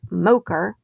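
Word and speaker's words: MOCR: m o c r the mission operations control room pronounced mocher they were attempting to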